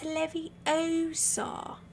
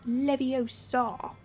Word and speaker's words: Leviosa: I don't even remember you're saying it wrong it's Leviosa but levio star Ginny is a girl